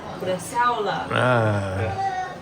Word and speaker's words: bresaola: Bresaola.